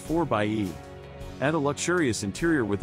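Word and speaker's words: 4xe: a fuele efficient plug-in hybrid called the 4z pronounced 4 bye at a luxurious interior with all of the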